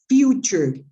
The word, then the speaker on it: future: This word is pronounced future. future, not future. Okay, future.